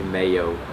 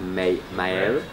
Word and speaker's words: Mael: People just called me Mayo. Mayo. Yeah, Mayo. But it's, I don't know, what is it? Yeah. But it's like Mael.